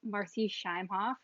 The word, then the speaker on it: Marci Shimoff: everyone welcome to the show I'm here with marci shimoff and why pronouncing your name correctly yes you are okay